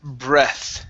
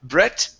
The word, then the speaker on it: breath: Uh, next up is uh the word breath instead of Brett.